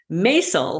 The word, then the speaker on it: Maissel: Well, I'm so excited to have, I'm going to try to pronounce name correctly now, Dr. Maissel, like the marvelous Mrs. Maissel.